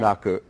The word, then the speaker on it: Bunraku: Bunraku. Bunraku. Well, that's the American pronunciation. Well, how would you say it in Japan? Bunraku. Well, it's that R.